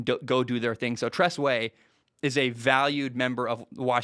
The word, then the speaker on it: Tress Way: By the way, side note, the punter for Washington, can't even say his name, Tress Way. I always want to say Trey West, but it's Tress Way.